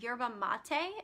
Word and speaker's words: yerba mate: What actually helped me a lot was this tea called yerba mate. It's spelled Y-E-R-B-A, and then it's 2 words, Y-E-R-B-A, and then M-A-T-E.